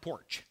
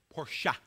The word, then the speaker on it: Porsche: they couldn't pronounce it no it's not porch porcha two syllables um so it was